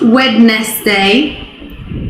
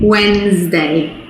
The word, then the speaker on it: Wednesday: And then the last one, another day of the week, not Wednesday, Wednesday.